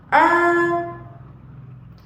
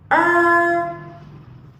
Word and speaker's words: er: một âm uốn lưỡi, Khi các bạn phát âm thì các bạn sẽ cong lưỡi của mình lên. Các bạn phát âm lại cho cô nào: “er, er”.